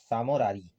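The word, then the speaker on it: Tso Moriri: तो इसके बाद आती है हमारी सामोरारी, टी हमारा इसमें साइलेंट है, समोरारी।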